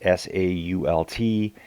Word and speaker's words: Sault: believe they pronounce it Sault. It's S-A-U-L-T. Here in Canada, we would say Sault, as in Sault Ste. Marie. It's spelled the exact same, but I think they say Sault.